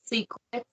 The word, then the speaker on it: Sssecret3x: my name is secret pronounced secret so it's secret SSS e c r TP X new porn but not